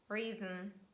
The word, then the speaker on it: rhythm: another consonant diagram where letter h is always silent and this is combination rh for instance rhinoceros rhythm and there are many